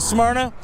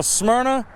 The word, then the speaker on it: Smyrna: It's like Smyrna, man. If you go to Smyrna, it's either Smyrna or Smyrna.